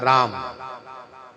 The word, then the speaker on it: राम: तो रा कह करके, रा कहने से मुंह खुलता है। अब माँ का पूरा उच्चारण नहीं कीजिए, आधे उच्चारण कीजिए तो मुख बंद हो जाता है, राम। और जब मुंह खोलेंगे तो राम राम, तो माँ पूरा उच्चारण होता है, राम। तो राम यूं कहते ही, राम कहते ही मुख बंद हो गया।